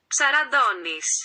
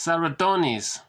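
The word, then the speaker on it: Ψαραντώνης: Well, it's supposed to be pronounced like this. Ψαραδόνης. Serotonis. But I guess we could be forgiven if we pronounced it like this. Serotonis. Serotonis. But it should be pronounced Ψαραδόνης.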